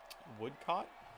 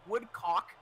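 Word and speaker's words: Woodcote: nationals national pitstreet uh woodcott would got uh unfortunately he pronounced it woodcock uh all of last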